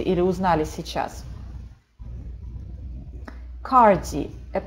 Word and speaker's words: cardi: Пожалуйста, не читайте cardi. Да, прям вот по-русски «р» не читается. Cardi. Это такое длинное «а» с небольшим округлением.